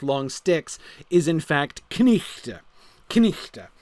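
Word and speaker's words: knight: sticks is in fact knichte. Knichte. You pronounce the K and the N, and you do the ch on the GH, so the thing is pronounced knichte.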